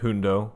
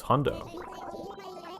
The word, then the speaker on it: Hondo: And it's not called Hundo unlike my first part. I cringed at that. I don't know why I pronounced it like that, but I did. It's Hondo.